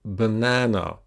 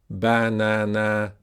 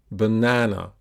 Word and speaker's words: banana: would be something like banana. Something like that. But it's not. It's banana. So the vowel in the second syllable is longer.